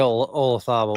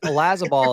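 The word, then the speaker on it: Olazábal: Thomas Bjorn, Jose Marazabal, Francisco Molinari, Jose Maria Olazabal. I know. I said it wrong. I was trying. No, you didn't. I'm mad that Olazabal has been the way the Brits have been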